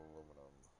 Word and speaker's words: aluminum: aluminum them all right aluminum all right current system is clapper the brits say aluminium all right we're going